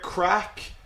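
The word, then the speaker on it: craic: this what's the crack okay this word here crack it is just pronounced like c or a c k crack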